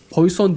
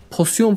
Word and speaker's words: poison: Pozisyon falan diye okuyor bazıları ama bir grup var ki buna pozisyon diyorlar. Arkadaşlar, burada pozisyon falan yok, yani futbol oynamıyoruz ya da başka türlü aktiviteler yapmıyoruz. Bu poison. Poison damage diye okunur.